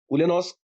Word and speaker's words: Ulyanovsk: Sir is also an MBA Finance from Ulyanovsk University. Have I pronounced it correctly?